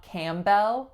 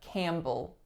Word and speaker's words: Campbell: this case it's reducing to schwa so not Campbell but Campbell Campbell next one we have Evan's Evan's only two syllables the winners on the first and it